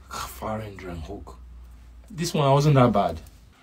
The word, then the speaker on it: gevarendriehoek: Gevarendriehoek. Like you're hooking it. Gevarendriehoek. It's Gevarendriehoek.